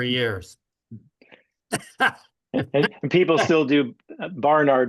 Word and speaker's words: Barnard: It's barn you say barn like like a like a barn out in the field. A barn. Barnard. I've even heard his uh some of the colleagues that work for the Barnard Medical Center even pronounce his name wrong. They say Bernard. Bernard. Yeah. and he doesn't ever correct him, but I've heard him say his own name many times. Yeah, it's Barnard. Yeah, Barnard.